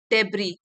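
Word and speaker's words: debris: फैला हुआ है और यहां पे डेब्रेक में एस साइलेंट है डेब्रा जैसे कि सीमेंट के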